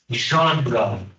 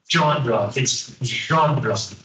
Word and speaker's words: genre: genre one day uh this word is from French so uh pronunciation is very strange it's genre it's not genre uh regardless of genres